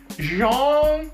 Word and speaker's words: Jean: uh sometimes I've been wrong I call them Jean and sometimes I call him John but I've been um the record has been corrected and um I found out that it is pronounced Jeong right it's a great book it's a great